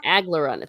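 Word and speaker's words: Aglaranna: how do you say her name algarana aglerada aglerana thank you yeah and there was some dialogue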